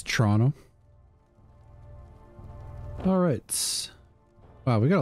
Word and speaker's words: Toronto: It's like how Americans say Toronto. And it's Toronto.